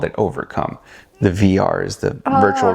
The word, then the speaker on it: Ovrcome: be used everywhere so I cut out the first e overcome right just OVR and there was only